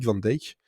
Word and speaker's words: Van Dyke: plus qui s'appelle dick van dyke pour les américains parce que c'est comme ça qu'ils prononcent mais si on prononce à la néerlandaise s'est dit van dijk donc c'est soit là